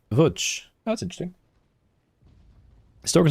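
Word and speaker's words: Łódź: Lodz is actually pronounced Vuch.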